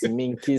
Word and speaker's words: Minkisi: Minkisi, right? Tell me that I pronounced it right. Yes, Minkisi. Okay, You all got right.